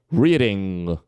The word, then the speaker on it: reading: falar dessa forma forçada Ok então Reading tá sai um quase um G no final agora mas é isso já é demais tá então Reading é isso só uma fechadinha assim bem Sutil que nem agora como eu fiz tá ou s Ok